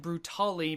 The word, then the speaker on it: Brutale: Cavalier games the sexy brute ale and yes I know that it's been pronounced variously as brutal brutal and brutally but my understanding is that it's a portmanteau of brutal tale hence brute tale before we talk about